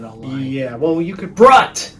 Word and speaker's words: Brut: Brut. His name's Brut, and it's supposed to be Brute. Right, But but it's they did spell it B-R-U-T.